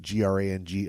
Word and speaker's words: Grang: G R A N G of the Wolf Clan. Uh, and his boss is you. How do you pronounce his name, Butch? Grang bragging and banging.